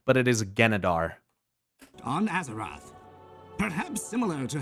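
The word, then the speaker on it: Genedar: God, I'm the one that gets mad when people correct my pronunciation, but it is Genadar.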